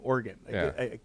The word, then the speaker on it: Oregon: idiot they say no you pronounce it like the instrument with keys in the church oregon where do you live portland organ and if i said